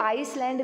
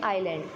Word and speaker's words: island: इसको आइसलैंड नहीं बोलेंगे बेटा, या इजलैंड नहीं बोलेंगे, इसकी प्रोनाउंसिएशन क्या होगी, आइलैंड।